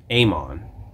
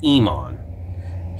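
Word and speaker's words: Aemon: Amon. A-E-M-O-N. Is not pronounced Emon.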